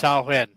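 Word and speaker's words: Samhain: It's spelled Samhei, but it's pronounced sawen.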